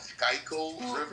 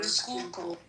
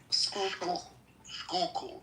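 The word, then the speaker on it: Schuylkill: Is it sky river? Skookul. Skookul, not sky. No, it's a Dutch word.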